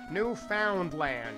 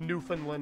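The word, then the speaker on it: Newfoundland: it once right now no they don't pronounce it that way it's just newfinland or something they they don't say all the letters it's like how we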